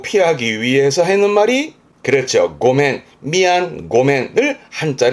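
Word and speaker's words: 御免: 고멘. 그러니까 위기를 면하기 위해서 내지는 책임을 면하고 피하기 위해서 하는 말이 그렇죠. 고멘, 미안, 고멘을 이 한자를 씁니다.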